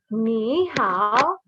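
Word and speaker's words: 你好: So the tones are important. This is not just ni hao. This is ni hao. Ni hao. You see my tone? Ni hao. There's a third tone, right? And the third tone goes down and back up.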